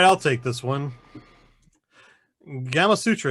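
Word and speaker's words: Gamasutra: Gamma Sutra, is that right? Gamma Sutra. Rhymes with Kama Sutra.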